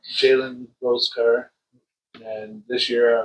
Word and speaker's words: Jalen Rose: Yep, I did Jason Rose car Oh, and I always say it wrong. Jalen Rose car.